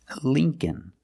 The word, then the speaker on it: Lincoln: it's Lee link linoln Lincoln the second L is silent so it's link Lincoln remember the first syllable